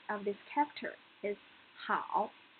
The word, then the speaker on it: 好: This 和 is initial, 凹 is final, and the tone is a third tone. So, the pronunciation of this character is 好, 好.